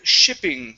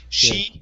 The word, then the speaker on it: shipping: is uh the word shipping give me a short eye instead of sheeping shipping shipping okay very nice and next